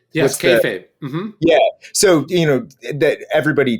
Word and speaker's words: kayfabe: So that's I don't even know how you say it, kayfabe? Yes, kayfabe.